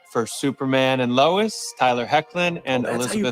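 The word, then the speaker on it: Hoechlin: give it up for superman and lois tyler hecklin and elizabeth you pronounce his last name i always thought it was like hoachland or some that makes so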